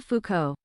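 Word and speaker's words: Foucault: evidently I need it how to pronounce Mitchell fuo so Michael Mitchell Fuko Michelle Fuko he he is a [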